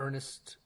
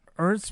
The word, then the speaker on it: Ernst: Ernest. I can't pronounce that. Ernst Marischka.